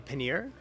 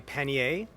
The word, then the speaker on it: pannier: I'm an American so I'm gonna say pannier Pena some would say paneer others might say penny a choose your cheese your